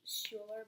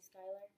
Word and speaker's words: Skylar: instead we're best friends Skylar could also be pronounced as Schuler but it's mainly Skylar that's what they joke